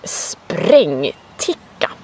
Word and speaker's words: sprängticka: In Swedish, this is called sprängticka. Sprängticka, with a rolling R and that funny letter A with 2 dots over it, which is pronounced A.